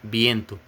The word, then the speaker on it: viento: viento, mas se fala viento. Porque o espanhol na verdade não tem esse som de V. Não existe esse som de V em espanhol. O som da letra V em espanhol é B.